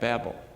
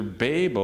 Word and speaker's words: Babel: two different TR pronunciations it's either B- a b l or b a y b l so it's either Babel or Babel it doesn't matter how